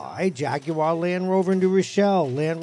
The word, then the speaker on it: Jaguar: we say here at jaguar land rover new show the proper way which is jaguar jaguar did i say it